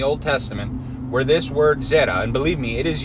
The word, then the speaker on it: Zera: And the word is Hebrew word Zera, Z-E-R-A. Sometimes it's spelled Z-E-R-A-H.